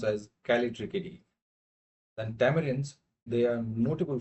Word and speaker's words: Callitrichidae: Um, this this thing is pronounced as Callitrichidae.